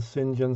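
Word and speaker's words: St John: a video about norman sinjan stevis concerning how the pronunciation of his name did not conventionally follow the spelling it says saint john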